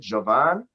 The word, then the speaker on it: Jovan: They were like, how do you pronounce your name? I'm like, I pronounce it Jovan.